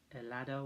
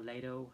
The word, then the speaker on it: Lado: And it's Night Train Murders, directed by Aldo Lado, or Lado, I pronounce it.